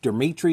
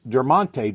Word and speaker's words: Dermontti: card of deronte Dawson I used to always mispronounce his name I think I always used to call him for Demitri Dawson until I actually looked at this card I'm like no it's dermon Dawson uh deronte is a